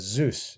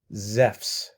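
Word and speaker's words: Ζεύς: hear it pronounced as zeus it's not zeus it's pronounced as zephs okay zef's like that with an f right so that's something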